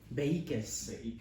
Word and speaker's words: Behique: Behiques.